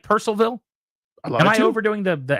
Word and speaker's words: Purcellville: No, I'm saying Purcellville. Yeah, it's like Percival. It's not like Louisville. Yeah. Where they think overdo the it down L is, there. The L is silent, right?